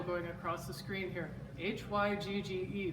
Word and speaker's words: hygge: across the screen here h-y-g-g-e pronounced hygge can you say that it's it's like hygge but you're trying to